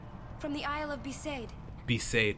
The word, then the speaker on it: Besaid: Be saved, that's how you say it.